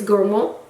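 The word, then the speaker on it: gourmand: it's actually it's gormand if you say it in know in English you call you know you say Gorman in French it's gormo and these notes are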